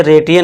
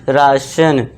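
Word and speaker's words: ration: तो इसे रेटियन नहीं पढ़ना, राशन, राशन, पेंशन।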